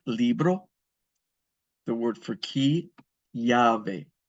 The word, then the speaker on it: llave: The word for key, llave. The double L in Spanish is pronounced like a Y. So the word for key is llave.